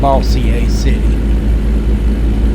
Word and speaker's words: Bossier City: and when it was it was probably pronounced bossier city and not bowser city but over the years